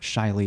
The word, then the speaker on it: Chilee: want to get into the origin story of Shiley and that's how you pronounce it yes uh kudos to Chicago and